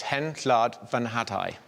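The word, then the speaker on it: Hen Wlad Fy Nhadau: So it's Hen Llad Fy Nhadau.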